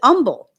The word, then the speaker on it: humble: And some people don't pronounce the H in humble. Here we say the H in humble, but I know there's places um the Southeast area that pronounce it umble.